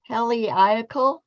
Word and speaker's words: heliacal: The manuscript that dates the Heliacal.